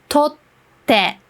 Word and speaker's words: 撮って: with this small t, what you should know is you don't pronounce the t. Instead, you put a small pause between the two letters that the small t is dividing. If there's no small t there, and it's written like this, then you pronounce it like tote, tote, which doesn't make sense. But with the small t in between, it sounds like tote.